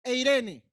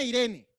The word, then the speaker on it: Eirene: Paz, que en griego se escribe Eirene. No la hermana Irene, Eirene.